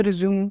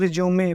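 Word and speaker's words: résumé: पे इसको हम लोग रिज्यूमे प्रोनाउंस करेंगे। तो ये चीज़ ध्यान में रखना कि किसी के सामने रिज्यूम मत बोलना, इसको रिज्यूमे बोलना।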